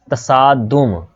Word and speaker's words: तसादुम: तसादुम, तसादुम, ये स्वाद यहाँ पर आना है, ठीक है, ये आपने ज़हन में रखना है, लेकिन यहाँ पर सीन गलती से लिखा गया है, तो ये तसादुम लफ्ज़ है, तसादुम। ते के ऊपर भी ज़बर है, सीन के ऊपर भी ज़बर है और दाल के ऊपर पेश है।